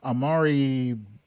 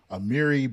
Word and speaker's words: Amiri: Now, now that we have a pretty firm grasp of what pie versus Ferguson is, let's turn to Amari. Sorry, I think I pronounced that wrong. Amiri Baraka's profound insights on how this case reshaped the musical landscape of New Orleans.